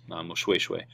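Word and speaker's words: Moshoeshoe: these names um but this is pronounced in suu as mushes the OE is a is a way sound muswe um King Mushu uh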